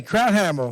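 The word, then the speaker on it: Krauthammer: name craft handle okay crowd like sauerkraut okay crowd Hammer okay and here whereas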